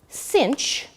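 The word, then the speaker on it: sinh: we're gonna define now Cinch which is the hyperbolic sine and that really is how you say it you say cosh and Finch it's kind of silly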